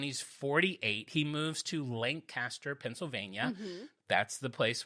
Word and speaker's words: Lancaster: Halloween battle show because I said Lancaster, and everyone's like, great show, but it's Lancaster, you idiot.